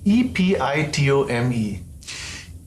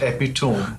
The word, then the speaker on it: epitome: and not a said and e p i t o m e epitome epitome and not epone that's right not hyper bowl but hyper hyperbole.